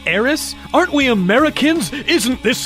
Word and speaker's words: Aerith: Aerith is called Eris in the English version of the game, but that's only because that's how the Japanese pronounce the name with the TH spelling. That way, they avoid people saying her name as Erisu, which is definitely not it.